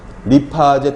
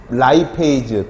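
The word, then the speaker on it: lipase: 예전 교수님들은 다 폴리페놀 옥시다제, 페놀라제, 아제로 발음했죠. 요즘은 에이즈로 발음을 많이 합니다. 그러니까 아밀라제 또는 아밀레이즈, 리파제 또는 라이페이즈 또는 프로테이즈.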